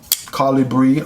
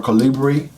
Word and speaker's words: Colibri: course, is the Kansept Colibri or Colibri tech, depending on where you want to put the accent on the name.